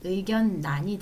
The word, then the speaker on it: 의견란: 얘를 보시면 의견 란에서 앞자 니은 때문에 란이 아니라 난 의견 난이 되고요 그다음에 생산량은 량이 아니라